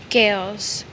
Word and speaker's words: Gaels: Gaels.